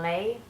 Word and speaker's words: les: Like that's not, we'd say les, and in French we got the sound lay.